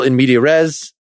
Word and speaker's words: in media res: Is the lesson about starting a scene or starting in the middle in media res?